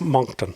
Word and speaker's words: Moncton: Moncton. Moncton, like Moncton. A monk.